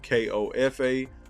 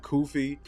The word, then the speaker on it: Kofa: Again, Kofa, K-O-F-A, not Kofi, not, not Kofi, or any variation thereof. Kofa rhymes with sofa. It's 4 letters. It's easy to pronounce.